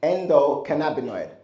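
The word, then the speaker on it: endocannabinoid: Let's first start with how to pronounce it. So repeat after me. Endo endo cana cana beninoid when you look at beninoid just think anoid but just replace the a with a b.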